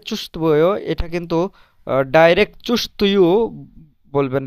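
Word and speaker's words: чувствую: এখানে এই যে ভে, এই তের পরে যে ভে, এটার উচ্চারণ একেবারে সফট হবে, কিন্তু উচ্চারণটা চুস্তভুয় এভাবে হবে না। চুস্তুয় চুস্তুয় মানে ডিরেক্ট ডিরেক্ট তুইও হবে না, তুভুইও হবে না, এই দুটার মাঝামাঝি উচ্চারণ হবে।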